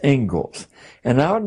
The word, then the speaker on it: Inglis: Looks like Inglis, but it's pronounced Ingalls.